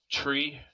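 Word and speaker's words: three: 3 is said like tree, Tree.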